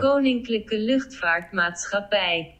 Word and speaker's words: Koninklijke Luchtvaartmaatschappij: Pra quem não sabe, KLM significa Koninklijke Luchtvaartmaatschappij. Desculpa, mas eu não sei pronunciar isso. Coloca a pronúncia certa. Koninklijke Luchtvaartmaatschappij.